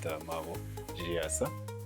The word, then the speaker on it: Maabo Chiyasa: the pronunciation is okay, but the name is pronounced MAABO CHIYASA.